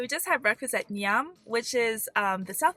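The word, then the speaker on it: Njam: So, we just had breakfast at Nyam, which is um the South African way of saying yummy.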